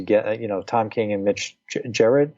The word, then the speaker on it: Gerads: Tom King and Mitch Gerads. Am I pronouncing his name right? Gerads. I believe it's Gerads. Yeah.